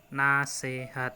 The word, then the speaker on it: nasihat: seperti ini nah jadi penulisan bakunya yaitu Nah si cddd menggunakan huruf namun pengucapannya nasehat Hai nah Selain itu kata